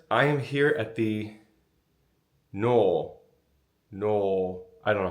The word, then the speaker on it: Nuo: Not even stayed in, seen, also stayed in. But it's stunning. Let's get started. We Googled it. No is the pronunciation.